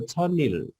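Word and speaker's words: 천일: भएको छैन इल है यो छन्इल हुन्छ यो छनिल अब छिटो भन्दाखेरि चाहिँ अब छनिल गर्ने छन्इल हो तर छिटो उच्चारण गर्नु पर्यो भने चाहिँ छनिल गर्ने ओके ल त्यस्तै 1002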